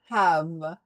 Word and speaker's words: have: deal have have is it's a little tough pronunciation have because when you were start the pron start the pronunciation you need a sound from a diff ha and last sound will be a v and e the last e will be silent.